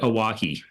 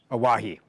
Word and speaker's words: Owyhee: yeah we pronounce it aahi aahi okay a and it actually has roots in the word Hawaii and if you look